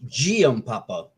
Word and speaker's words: Giampapa: Well, it's a soft G. It's Giampapa.